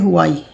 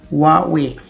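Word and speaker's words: Huawei: इसे लोग कॉमनली पढ़ते हैं हुआई या हवावी, आई डोंट नो, या हवाई कह लेते हैं, लेकिन जो इसकी करेक्ट प्रोनाउंसिएशन होती है बिल्कुल डिफरेंट होती है। इसे पढ़ा जाता है वावे, वावे। आप इसे वावे कहते हैं। इफ़ no then you need to start saying it, वावे।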